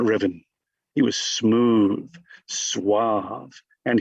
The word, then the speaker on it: Ruthven: It's written Ruthven and pronounced Riven.